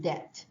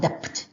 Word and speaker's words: debt: to be called oxygen Deb which I like a bit more although I have always trouble pronouncing the word debt the be silent right de not dep okay so oxygen de